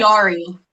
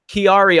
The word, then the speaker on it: Chiari: I had, how do you pronounce this? C-H-A or C-H-I? Chiari. Chiari.